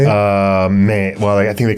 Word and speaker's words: MAME: Like in 2024, the MAME. Is that what it's called? How do you say it? MAME. Well, I think they call it MAME.